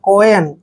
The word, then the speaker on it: coin: Next word COIN, सी के बाद जब भी ओ आता है तो सी का उच्चारण कै करते हैं, और ओ को हमने ओ की मात्रा पढ़ना है, और देखिए यहाँ पर आई का उच्चारण यह करेंगे और एन को न पढ़ते हैं।